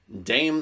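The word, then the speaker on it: Damh: I mean, what he really is a neo-druid named Dame the Bard, although his name is spelled D-A-M-H, which doesn't really look like it's his dame. looks more like Damn.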